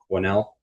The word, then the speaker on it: Quesnell: Even though we have that wacky S in the middle, it is pronounced Quesnell.